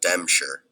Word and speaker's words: Dempscher: But John Dempscher, pronounced John Dempscher, was never a guy to seek attention.